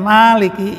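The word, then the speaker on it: مالك: ini ini ya Maliki cuman di dalam surat al-fatihah ini dipanjangin itu sehingga bacanya Maliki yaumiddin Ah ini Malik itu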